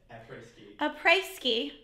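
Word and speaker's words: Après-ski: Apreski.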